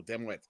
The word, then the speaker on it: Dimwit: I'd inform them that no, it was actually pronounced Dimwi, as the T was silent, and that they were uncultured for not knowing that ahead of time.